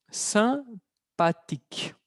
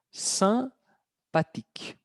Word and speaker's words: sympathique: Sympathique. Sympathique. La E es muda al final. Pero como ya tiene una E sin acento, femenino simpática, igual. Sympathique.